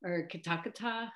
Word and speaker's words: Kitakata: Let's see, I really like Kitakata paper, and that's Kitakata, I think is actually how it's pronounced.